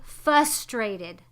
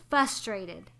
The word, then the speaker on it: frustrated: it and that frustrated frustrated people say fustrated frustrated have you ever heard